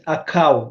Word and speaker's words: Akau: My proper name is Akau. It's just spelled like your name, David, but it starts with the A.